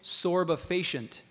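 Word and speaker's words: sorbefacient: substance that produces or promotes a could you pronounce the word again please sorba facient language of origin this word is from Latin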